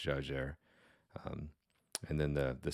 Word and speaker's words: Jaeger: a German name but in French it is pronounced Jer um and then the the second part and